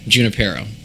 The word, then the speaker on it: San Junipero: for the specific episode of San Junipero. Am I pronouncing that right? Yeah, Junipero.